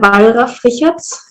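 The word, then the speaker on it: Wallraf-Richartz: You asked before how to pronounce the museum in Oh, Cologne. yes. Thank you so much. So is it the Wallraf-Richarts?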